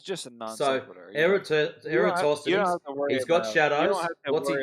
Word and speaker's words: Eratosthenes: Hang on, let me say it right. Eratosthenes.